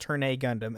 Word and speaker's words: Turn A Gundam: It's the system turn a 999 turn a Gundam pronounced turn a Gundam aka it's is literally